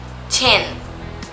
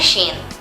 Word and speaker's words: Chen: Ah, mais um Chen. Esse ch não é Shen.